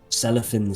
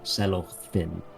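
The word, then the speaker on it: Celorfin: it uh reads um cellophan sing things kind of selloff thin yeah um which is spelled c-e-l-o-r-f-i-n um now inside the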